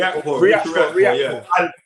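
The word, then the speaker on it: Riakporhe: Riakpo.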